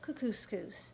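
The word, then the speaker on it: Kookooskoos: anyway welcome to camp kuku scoops it rhymes with moose that's another good thing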